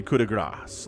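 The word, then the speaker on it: coup de grâce: And then Lings coming in for the coup de grace, like the last one. The coup de grace, it's not C, the C is silent, right? Coup de grace, I believe is how that works in French.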